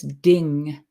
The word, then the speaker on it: Ding: And actually, in High German now, thing is ding.